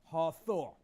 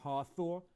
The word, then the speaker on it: Hathor: So this was the god Hathor. All right, Hathor was the Egyptian goddess of love, protection. All right, it was shown with the head of a cow. All right, when you look it up, Hathor is the goddess with a cow, the head